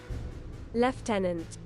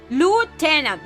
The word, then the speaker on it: lieutenant: No, left tenant. That's a British way. Don't listen to them. So, how how do I English pronunciation? Americans. Okay. Lieutenant. Lieutenant. Lieutenant I love I love how reality just panic. No, that's the British. No, Lieutenant.